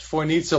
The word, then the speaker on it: Fojnica: Right, and what people should know about the Foinica River, and by the way, it's pronounced Foinica like mozzarella to people who want to know.